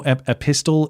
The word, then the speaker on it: epistle: No, epistle. Epistle. The T is silent.